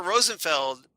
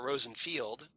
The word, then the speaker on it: Rosenfeld: Albert Rosenfeld, or he pronounces it here, Albert Rosenfield, has arrived and with his usual charm has completely won over the local population.